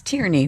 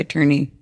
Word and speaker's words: Tierney: to i'm totally kidding people say my name tourney all the time it's it's tyranny but people say attorney it's i'm so sorry